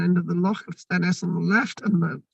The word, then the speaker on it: Stenness: The name, which is pronounced Stenness, right, which could be in the beginning, or Stain as in stone of Ness.